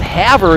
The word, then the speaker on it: Havre: My wife, the French teacher, says, no, they shouldn't call it Havre. It should be Le Havre. The town in France Havre was named after, but that's the American pronunciation.